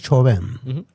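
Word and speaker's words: Chauvin: Eh, chaubinismo viene del francés choven. La au en francés se pronuncia o choven.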